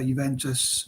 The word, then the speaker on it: Juventus: not know but yeah juventus um although it's pronounced juventus it starts with j how it's spelt so